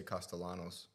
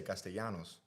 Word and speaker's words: Castellanos: Well, the thing is, so if I'm if I'm talking to somebody that is American, I'll just say Costalanos, right? If I'm hanging out in Italian, like in Italy with Jess, all of a sudden I won't say the S. So I'll just say Costalano. Costalano. Costalano. Costalano. But then if I'm if I want to be Latin again, I just say Castellanos.